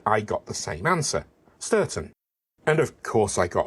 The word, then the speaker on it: Stourton: mispronounced place names and finally I got the same pronunciation twice sturon a while ago I had asked about this on Master done and from an old friend I got the same answer ston and of course I